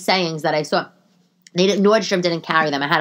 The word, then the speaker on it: Nordstrom: at Nordstroms oh yeah oh Nordstroms yeah yeah you know it's Nordstrom I don't know why